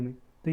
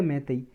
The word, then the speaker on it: Meitei: टॉय को introduce करने में। तो ये भी आपको याद रखना है। नेक्स्ट एक टॉपिक है, एक मैती कम्युनिटी है, इसकी प्रोनाउंसिएशन देखो कुछ और भी हो सकती है, MEITEI, मैती या मैतई।